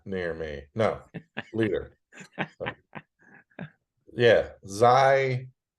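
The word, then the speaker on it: Xi: me no leader yeah Zai it's pronounced Z right Z yeah well he's gonna be 70 soon come on this is your you're running out of harm looking 70.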